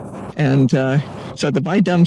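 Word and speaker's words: Bai Dum: varieties are bu and by dum and uh so the by dum sounds like a slur but uh it's spelled b a i and uh so it's not like the bui thing and you know being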